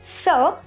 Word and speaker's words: ce: which means this in english so we use sir when we have a masculine noun and when